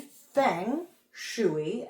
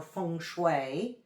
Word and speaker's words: feng shui: Funue 101. We're gonna get right into it. So, literally thing shuy as it's called in America or funue if I'm doing the best pronunciation I can on that literally means wind and water.